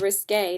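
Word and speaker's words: Risqué: I was like, whoops, it's called Risque, not Risk, Caitlin, and I kept on mispronouncing it when I actually got it.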